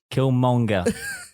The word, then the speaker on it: Killmonger: Killmonger. I just have to say it 2 separate, like 3 syllables.